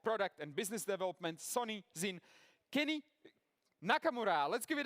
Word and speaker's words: XYN: So, I'm from Sony and under the Sony we announced the new software brand called ZIN, pronounced as ZIN.